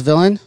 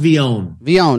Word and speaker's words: Villon: bottle yeah that's the is it just uh pronounced as it sounds villain it well it's called vion vion okay so it's unlike any have you